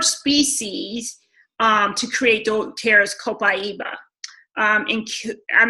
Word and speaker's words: copaiba: except after C so the a is pronounced I so copaiba alright so don't eros copaiba now i'm going to